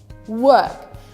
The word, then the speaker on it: work: In this case, you do not pronounce it. For example, weather, color, shirt, beer, work.